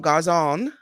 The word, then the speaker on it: Garzon: I'm going to say it wrong. Garzon. I hope I You said got that it right.